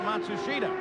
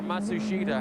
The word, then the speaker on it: Matsushita: Oh he tells Machusta what he thinks or Matsushida however you pronounce his name now. Yeah they they change it about every 6 months they say the pronunciation is now Matsushita.